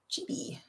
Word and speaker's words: Chibi: Reed says that is how they pronounce it in Japanese. Chibi.